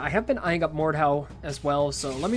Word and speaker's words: Mordhau: I think that's how it's said, Mordhau, M-O-R-D-H-A-U.